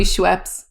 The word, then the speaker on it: Schweppes: I guess it would be Schweppes. It's Schweppes. There's not a double E in that whole word.